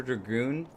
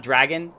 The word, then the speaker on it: Dragoon: dragoon this whole time azure dragoon not dragon holo holo was i